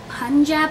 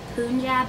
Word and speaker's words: Punjab: I have been told that I've been saying this wrong this whole time. So it's Punjab, I believe, and to the subscriber who told me how to say this, if I'm saying it correct now, please let me know because I don't want to be saying things wrong. I was saying Punjab, but I guess it's Punjab.